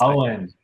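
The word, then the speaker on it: Eoin: This thing was pronounced by a guy whose name I've never been able to pronounce. Owen.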